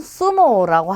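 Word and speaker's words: zumo: 그래서 이것도 여러분이 편한 발음 중에 하나로 골라서 해주시면 되고요. 자, 이게 글자를 한번 읽어보면 이 글자는 수모라고 하겠죠.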